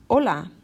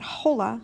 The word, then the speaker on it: hola: is in the word you don't pronounce the letter H okay so for example hola not Halle not Halle right remember